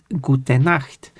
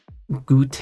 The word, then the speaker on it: gut: that's correct pronunciation but if you actually say it correctly as gut which is how it's actually supposed to be pronounced then like no you're pronouncing wrong. I mean, sure, I'm not pronouncing it like perfect German, of course, but I mean, it's more correct than saying gout n or something like that.